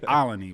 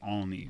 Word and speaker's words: Olney: That's how I say it. I don't know how they say it. I say Olney, but they say Olney.